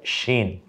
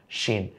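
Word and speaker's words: شين: হরফের নাম হয়ে যায় শিন। যেমন শীত ইত্যাদি না, শরৎ, শিশির। এই শব্দটা যে স তালব্যস্য দিয়ে আমরা লিখি, সেইভাবে একটু শক্ত আওয়াজ হবে শিন।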